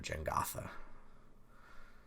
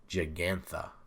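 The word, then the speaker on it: Jegantha: on here gengatha giganta i would say it wrong i always think of the game jenga they're not sponsoring the stream but that's what i always think of gin gotha but it's giganta but the j throws me off and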